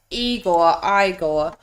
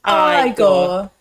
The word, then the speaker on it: Igor: Igor, Cloris Leachman, Terry Garr, Madeline Kahn.